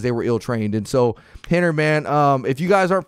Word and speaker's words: Rener: Yeah, you guys can follow me for sure at Henner Gracie on Henner, spelled with an R, pronounced with an H, one N, Henner Gracie.